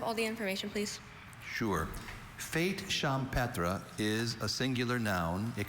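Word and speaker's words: fête champêtre: Fate champra is a singular noun. It can also be pronounced fate champra.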